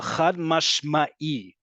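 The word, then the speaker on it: חד משמעי: Again, the root of chad mashma'i, that's how you pronounce it.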